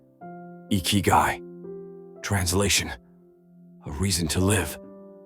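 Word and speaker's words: ikigai: Iguai, pronounced Ikyu, translation.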